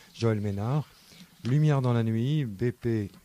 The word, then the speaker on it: Mesnard: À l'ordre de Joël Ménard, ça s'écrit avec un S, Joël Mesnard avec un D à la fin, Joël Ménard.